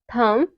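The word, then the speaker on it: thumb: वहां पे साइलेंट होगा जैसे है एग्जांपल कॉम बम थम डम यहां पे जितने भी वर्ड है इन सब में क्या आ रहा हुआ है इन सब में एम के बाद बी आ रहा हुआ है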